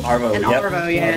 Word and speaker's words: arvo: Ace excellent arvo afternoon is that how you say it arvo arvo yep Oh this is brilliant look